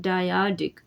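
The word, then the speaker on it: dyadic: मैंने, इज़ अ डायाडिक, इसको इस तरह से प्रोनाउंस किया जाता है डायाडिक।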